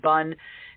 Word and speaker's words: BUN: blood Ura nitrogen or bu or some people pronounce It Bun that is kind of looking at the filtering